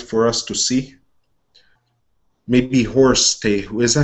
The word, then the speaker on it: Horus: us to see maybe horse they who is that how you say it horse not horse horus the eyes of forest